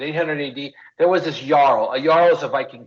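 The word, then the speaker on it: jarl: ad there was this yarl a Yaro is a Viking king so they called him yarl with a J but it's a y right just like U so anyways what happened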